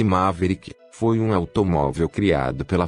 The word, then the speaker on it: Maverick: hoje vamos falar do forma veículo uma verídica pronuncia-se Maverick foi um automóvel criado pela fora dos Estados